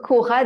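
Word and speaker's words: ὥρα: les écrire mais donc Cora donc ça s'écrit c'est h o R a c'est un qui pour ça qu'il se prononce aspiré et on va retrouver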